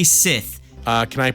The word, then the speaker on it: Scythe: out that rafis says the correct pronunciation for Scythe is actually Sith uh can I pronounce